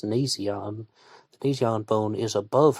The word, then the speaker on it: nasion: did i know i thought it was called an asian but i checked the pronunciation it says nasion the nasion bone is above her eye level